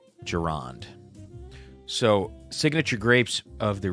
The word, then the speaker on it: Gironde: Gironde? Gironde. Gironde.